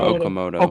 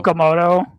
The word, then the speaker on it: Okamoto: They also brought in that um I forget how to pronounce his last name. He's got Zuma Okamoto. Okamoto.